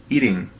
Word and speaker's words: eating: Aqui você não vai pronunciar a letra G. A letra T também, aqui, estará entre duas vogais. Aí você pronuncia como D leve, eating, tá?